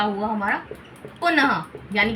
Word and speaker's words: पुनः: जैसे उदाहरण अगर हम उसके लें तो त का हुआ हमारा अतः न का हुआ हमारा पुनः यानी कि देखिए इसके अंदर ह का उच्चारण हो रहा है।